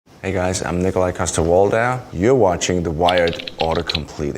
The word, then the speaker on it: Nikolaj Coster-Waldau: here when I'm in Denmark it would be Nikolaj coster-waldau see how much does Nikolaj coster-waldau wait okay